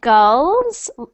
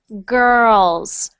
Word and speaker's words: girls: good next one girls so I'm hearing GS almost I'm hearing GS but I want to hear girls girls try saying uh